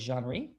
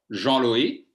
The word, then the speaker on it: Jean-Louis: So it's Jean-Louis. Jean-Louis. Jean-Louis. Jean-Louis. Juan Luis in Espanol.